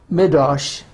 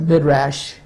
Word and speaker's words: midrash: in the ancient Jewish midosh or midrash depending how you want to pronounce it m-i-d-r-a-s-h and what is